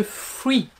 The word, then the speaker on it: Fwee: côté un peu fouetté, pudding, de la marque Free. Donc ça s'écrit F-W-E-E, et ça, on les a vus partout, sur toutes les chaînes asiatiques, mais également maintenant ici chez nous.